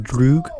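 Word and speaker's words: друг: I just wanted to point out that the weird-looking A in the PYR isn't A-peer, it's pronounced "droog", which means friend in Russian.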